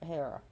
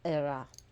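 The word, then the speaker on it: Hera: her next to her hair at all do not put an AKA Hara era because in Greek the H is not pronounced so it's era but here we call her hair so goddess can help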